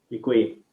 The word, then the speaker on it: Děkuji: Děkuji.